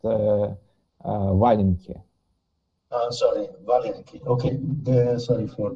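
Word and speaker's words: валенки: It's pronounced Valenki.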